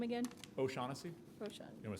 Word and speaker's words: O'Shaughnessy: back can you repeat your last name again O'Shaughnessy you want to spell it yes please oh apostrophe s-h-a-u-g-h-n-e-s-s-y thank you